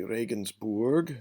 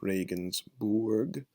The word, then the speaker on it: Regensburg: Okay, Regensburg. Notice the URG, Regensburg.